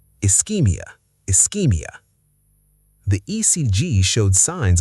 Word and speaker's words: ischaemia: Ischaemia. British spelling again has extra A compared to American. The SCH makes a K sound here, not sh, not ch, K. Ischaemia. Ischemia.